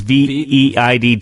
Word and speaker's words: Veidt: I'm gonna mispronounce this guy's name. Veidt. It's Veidt. Veidt.